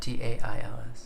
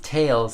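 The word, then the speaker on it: Thales: oh for goodness sake that's whales but with a silent T instead of a w of course Tails sorry it's what I said that wrong it's it's definitely whales it's taals spelled like whales it's not a th sound it's Tails okay anyways I can't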